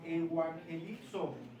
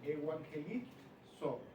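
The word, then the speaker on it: εὐαγγελίζω: Aquí la palabra griega es evangelizo, con Z al final, evangelizo. acento en la I y Z al final.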